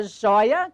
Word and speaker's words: joia: Separar o joio do trigo e a joia, que está nesse caminho, perdeu o acento, continua com sonoridade aberta, mas não mais com acento. Joia, sílaba tônica, jói, não mais acentuada.